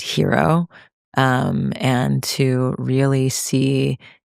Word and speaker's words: HIRO: And I want everyone listening to support hero and what we're creating here, H I R O, pronounced hero.